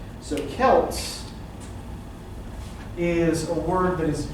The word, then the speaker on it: Celts: Okay, so the word he's using here is, it's pronounced Celts. Oh, Celts.